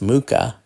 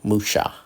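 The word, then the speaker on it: Mucha: mispronounced his name uh it's not ala alons Muka it's actually pronounced alons Musa so I was in Prague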